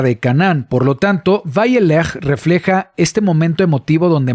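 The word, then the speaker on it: וילך: Vayelech se escribe de esta manera, una Vav, la Yud, Lamed, y Jav. Entonces es Vayelech.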